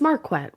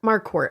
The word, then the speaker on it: Marquardt: It's Marquette, right? Yeah. Marquardt. I always say it wrong.